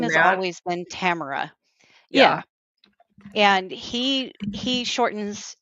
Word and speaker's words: Tamra: 99.9% of I call myself Tamara. So, Oh, there you it's like go. Well, it's then just like that silent middle syllable. Tamara.